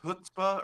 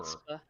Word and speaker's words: chutzpah: did you pronounce chutzpah earlier? Oh yeah, that was with the supposed to be CH, as is proper. chutzpah.